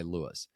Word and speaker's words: Luis: is it, I think I actually asked for Luis, and they said Lewis or something. I was like, oh, so I asked Matt. I was like, it's spelled, and he goes, yeah, but he goes by Lewis.